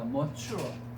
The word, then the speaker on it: mature: mature. 네이처 아니다. 얘들아 발음 좀 다릅니다. N은 네이처인데 따라합니다. mature. mature.